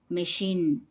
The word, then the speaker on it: machine: CH as sh sound in these words we pronounce CH as sh sound mine machine p shoot parachute sh